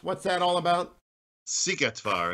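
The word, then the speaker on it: Szigetvár: as you what's this battle that i can't pronounce what's that all about sigetvar it's a battle between the hungarians and the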